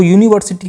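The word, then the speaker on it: university: तो यूनिवर्सिटी की जो साउंड है जो प्रोनंसिएशन है यह है कंसोनेंट की।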